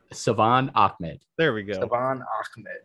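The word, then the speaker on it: Salvon Ahmed: But Salvin Ahmed kind of scares me. Yo, say his name correctly. Yo, still wrong. Savon Ahmed.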